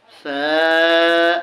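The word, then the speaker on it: ف: বাতাস বের হবে আর এটা হচ্ছে বা তা ফা হ্যাঁ এই যে আসুন ফা এটাকে নরম করে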